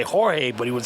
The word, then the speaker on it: Jorge: uh Corky okay but his name is George it's George but it's actually I mean in Spanish it's Jorge so you couldn't say